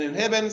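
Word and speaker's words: inhibin: through childbirth and then inhibit sounds like the word inhibit just like the the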